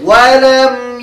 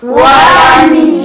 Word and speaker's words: ولم: يكن له كفوا أحد অনেকেই বলে ওয়ালামা ইয়াকুল্লাহু ওয়ালামা ওয়ালামা হবে না ওয়ালাম এখানে মিমের মধ্যে জজম হয়েছে মিমের মধ্যে কি হয়েছে জজম তো জজমের উচ্চারণটা সেভাবে সুন্দরভাবে করতে হবে ওয়ালামা যদি বলো তাহলে মিমের উপর জবর হইল হইল না এজন্য জজমের উচ্চারণ সেভাবেই করতে হবে ولم يولد ولم يولد